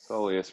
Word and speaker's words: soleus: other one so this soleus soleus rhymes with pointless for me simon